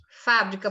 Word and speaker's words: fábrica: Preste bastante atenção e a palavra fábrica por exemplo ela é proparoxítona como é que eu sei disse o que é a sílaba mais forte é fa então última penúltima ou antepenúltima sílaba quando a antepenúltima sílaba é mais forte essa palavra é proparoxítona você vem aqui Fábio